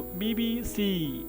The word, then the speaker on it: BBC: तो ये है द और बी बी सी, तो बी बी सी ऐसे इसका प्रोनाउंसिएशन होगा। सी पर हमें स्ट्रेस देना है, सी पर जोर देना, और स्ट्रेस के लिए